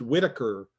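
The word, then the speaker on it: Whiteacre: thinking more of his last name which is pronounced whitaker uh throughout the uh movie but it's spelled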